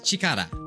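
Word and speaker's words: 力: That's the kanji for power. You say, how you say it is chikara.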